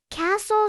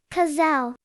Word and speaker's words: castle: Castle. Silent T. Kazelle.